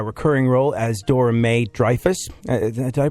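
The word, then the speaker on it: Dreifuss: known for her recurring role as dor May dfus did I pronounce the last name right yes you D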